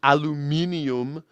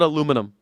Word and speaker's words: aluminium: And I know you guys just call everything aluminium. I don't know why you guys like having that extra extra syllable in there, aluminium, but we just call it aluminum.